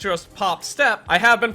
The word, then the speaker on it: Pop☆Step: name pop star step which I have been pronouncing this entire video as pop star step instead of just pop step because the first part